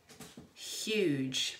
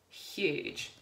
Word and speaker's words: huge: the soft G sound you can also have the soft G at the end of a word for example huge because I have that Eon the end and it's next to the G it's making the juice sound huge now if that was